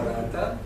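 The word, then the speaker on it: Ghattas: acompañó, así se llama, se escribe Gata, no es un peyorativo mío, se pronuncia Rata, que acompañó a la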